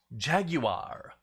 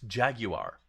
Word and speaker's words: Jaguar: And it helped me learn that it's pronounced Jaguar.